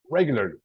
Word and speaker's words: regularly: kind of like this it's regularly reg very good regularly regularly yeah in the beginning goes a stress regularly one more time